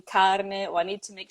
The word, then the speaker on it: carne: okay, I need to, make sure I pronounce the R, the letter R in carne, or I need to make sure I linger a little bit longer on the N in penne.